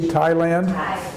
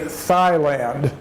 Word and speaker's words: Thailand: AI la in the Thailand you don't say the H you just say the T but in English in English we would say Thailand but but that would